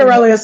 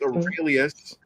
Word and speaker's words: Aurelius: We're going to start with Aurelius. Aurelius. His name's Aurelius. Aurelius. Why am I saying it wrong? Whatever you want. Aurelius? His name is Aurelius, like Marcus again.